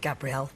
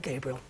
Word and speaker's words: Gabrielle: It is spelled Gabrielle, but I've always been called Gabriel, among other things.